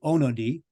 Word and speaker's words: Onody: I apologize that's okay so there's a couple of ways pronounce it so old school out of hung out of Hungary that's where all my family is originally from would be onod and then in North